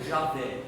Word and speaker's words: Javé: pela forma e até ou Javé é a pronúncia mais próxima do original ou tetragrama vem do